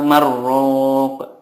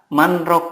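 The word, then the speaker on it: مَنْ رَاقٍ: Wa qila marrok. Nah, seperti ini gitu bacaannya. Takutnya orang lain itu menyangkanya ada kata di sini adalah marrok, bukan manrok, dan manrok dengan marrok itu beda maknanya.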